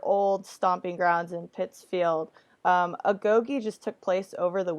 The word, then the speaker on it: Agoge: First of all, I'm glad you're calling it Agogi. I've heard different pronunciations, but that's what I like to call it. And any analysis of history says that that's the way you pronunciate it.